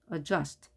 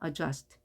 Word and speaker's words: adjust: 자, 발음표를 보게 되면 the 발음이 없죠. G 발음 같죠? adjust. D 발음이 생략되는 겁니다. adjust.